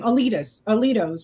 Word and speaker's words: Alito: it was so Scalia's is that how you pronounce his name? Alito's Alito, yeah.